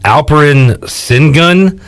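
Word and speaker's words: Alperen Şengün: is a big man alperin sin gun i believe it's as close to how you pronounce it it's funny because last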